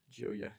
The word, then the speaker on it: Gioia: however you say I don't know how to pronounce that string of vowels Joya Dana which is a famous contemporary American poet.